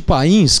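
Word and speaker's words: Payns: E com isso o Papa chamou um nobre francês que se chamava Hugo de Pin, que nós podemos chamar de Hugo de Pains, que é como se escreve o nome dele.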